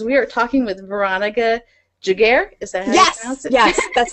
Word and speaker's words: Giguere: giddy today cuz we are talking with Veronica giguere is that yes yes that's the awesome part